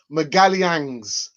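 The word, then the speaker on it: Magalhães: my my pronunciation listen i've got a couple of brazilian friends miguel yangs that is the pronunciation of his surname sorry people just wanna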